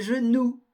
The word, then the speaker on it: genoux: prononce pas le S des genoux on ne prononce pas le X des animaux bien de